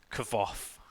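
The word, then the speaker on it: Kvothe: I googled this and I believe it's cover off yeah ignore the E and it's just cover off right okay so the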